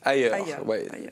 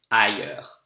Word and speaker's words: ailleurs: Ailleurs. Cherche pas dehors. Ailleurs, that means elsewhere. It's a bit difficult to pronounce. He has a hard time pronouncing it. Ailleurs.